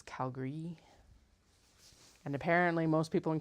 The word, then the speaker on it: Calgary: elied the a a lot so it's not Calgary it's Calgary and apparently most people in Calgary also don't pronounce a John Lauer it's John Lori although